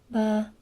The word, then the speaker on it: ba: Is ba. Ba. Again, neutral tone.